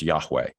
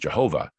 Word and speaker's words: Yahweh: were A and E, and it would be pronounced Yahweh. But early on, before we got some of those better understandings, it was thought, well, it's pronounced Jehovah, and it's not.